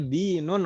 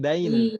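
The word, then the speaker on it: دين: Jadi kita membacanya dinun Om ya, din, bukan dain.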